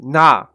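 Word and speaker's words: な: Now it's pronounced na, and it looks like that.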